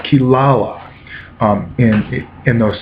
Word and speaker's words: Kirara: demon cat named kilala it's spelled Kirara to Western tongue but it's kilala um in it in